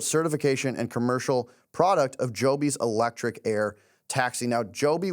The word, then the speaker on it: Joby: My stock of the week is Joby, and not just because it rhymes with Toby.